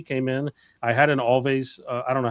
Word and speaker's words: Alvvays: I had an Alvvays I don't know how you pronounce that band Alvvays. It's like always but with a double V. Alvvays.